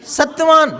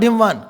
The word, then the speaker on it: Satyavan: Satyavan, not Himvan. Keep quiet. It is Satyavan.